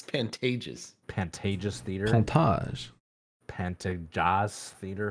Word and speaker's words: Pantages: We saw one of our favorite comedians at the Phantomus Theater. Is that how it's pronounced? I think it's Pantages.